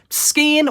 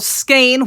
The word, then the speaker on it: skein: what i i had another skin well skein which is the correct pronunciation of the word um i had another